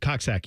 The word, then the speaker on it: Coxsackie: Edison where they located uh I don't oh coxi that's correct thank you thank you yes you're